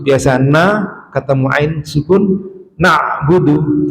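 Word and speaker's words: نعبد: Biasa na ketemu ain sukun na'budu. Jadi bukan na'budu na itu salah. Karena huruf nun ini ketarik dengan huruf ain na.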